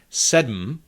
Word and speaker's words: sedm: However, that is actually syllabic M in Czech, and it is sometimes pronounced in numbers 7 and 8. Sedm, osm, and words derived from these numbers, like sedmnáct, osmnáct, sedmdesát, osmdesát.